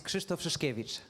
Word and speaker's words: Krzysztof Szyszkiewicz: name I or even surname I just cannot pronounce. So please introduce yourself and teach us. So my name is Kristoff Shashkevich.